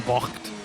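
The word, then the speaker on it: bocht: Well, the trivia tip is that all of these corner names that end with bo, it's pronounced bock, right? That means turn.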